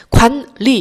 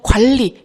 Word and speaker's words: 관리: 자, 그리고 여기 관리 볼게요. 관리 이것도 자연스럽게 발음하면 그냥 관리. 이렇게 니은이 리을로 변하는 유음화가 일어납니다.